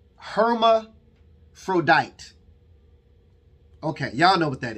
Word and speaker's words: hermaphrodite: word is uh uh they pronounce it here herma frodite okay y'all know what